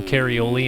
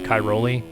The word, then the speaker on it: Cairoli: names right, so they'd rather just say Antonio Carioli instead of figuring out that his name is Cairoli.